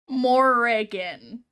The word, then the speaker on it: Morrigan: Is it Morgan or Morgan? Morrigan.